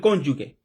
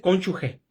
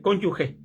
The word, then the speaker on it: cónyuge: la unión con el cónyugue. Creo que se dice cónyuge, si no me equivoco, siempre la hemos pronunciado mal. Creo que se dice cónyugue, cónyuge.